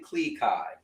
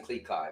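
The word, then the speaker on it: Klee Kai: is a al he's actually called a Alaskan Cleai, right? It's spelled K L E E K A I. Yes. And um that means he's an Alaskan Well, he's Alaskan Cleai, but he's a miniature husky.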